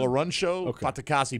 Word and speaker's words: Folarunsho Fatukasi: So Folarunsho Fatukasi will not be suiting up for the Jets. Who's that again? Say it one more time. Folarunsho Fatukasi.